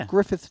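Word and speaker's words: Gruffydd: we pronounce that and apparently it's simply the Welsh spelling of Griffith so it's Griffith Jones grith Jones saying Griff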